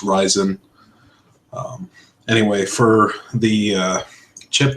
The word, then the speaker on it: Ryzen: at it you would expect it to be pronounced like risen or something like that but it's pronounced rise in any way for the chip that's kind of